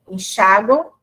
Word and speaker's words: enxáguam: Então, a gente ensina assim, que a letra M representa o som de U, mas ela é escrita com M. Enxáguam tem escrita M final.